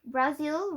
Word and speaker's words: Brazil: Brazil rhymes with Brazil. I thought it might help you remember my name.